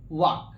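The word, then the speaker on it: walk: क्या होता है भैया वाक डब्लू ए एल के जबक होता है लेकिन ल क्या होता हमारा साइलेंट इसको क्या पढते पढते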